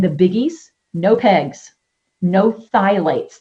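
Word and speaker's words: phthalates: biggies no pegs no thights the p is silent thight okay um no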